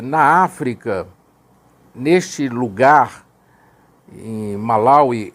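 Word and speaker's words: Malawi: continente a e na África neste lugar em malauí é os cristãos Testemunhas de Jeová conforme era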